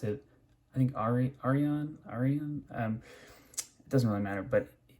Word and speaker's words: Arion: And at first I thought this knife, I pronounced it, I think Arion. It doesn't really matter, but pretty sure it's supposed to be pronounced, according to Cerberus, Arion.